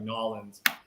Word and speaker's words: New Orleans: We just slur it together, so everybody thinks we say it like one word, like Nolans.